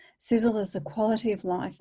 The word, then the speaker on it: Sisel: was founded in 2006 its name is pronounced sizzle which stands for science